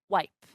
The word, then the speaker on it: wipe: word guest, okay, and the vowel E in the word plate or in the verb wipe. Okay, we don't say wipe he or plate he.